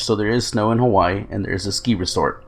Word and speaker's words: Hawaii: Hawaii. It's actually the W is supposed to be pronounced like a V.